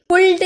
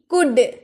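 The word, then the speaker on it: could: कुड सी ओ यू एल डी कुल्ड नहीं कुड कुड एल हम लोग का ये साइलेंट हो जाता है।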